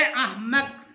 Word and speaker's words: احمق: کو نوٹ کرنا ہے، تو یہ الف کے اوپر زبر لگا دیا گیا، اور جو ہے اس کو آپ ساکن کریں گے، اور میم کو پھر جو ہے وہ